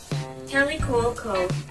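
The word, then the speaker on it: Kaley Cuoco: Kelly Cuoco.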